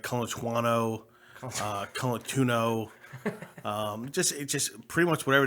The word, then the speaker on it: Colantuono: It's Colantuono. Say what? Colantuono. Colantuono? Yes. See, I pronounce everything like a Protestant, so that's probably my fault.